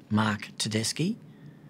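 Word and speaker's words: Tedeschi: perhaps before we begin the correct pronunciation of my name Mark teski I was the lead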